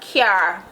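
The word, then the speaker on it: cyar: Car in Patwa. C-Y-A-R. Car.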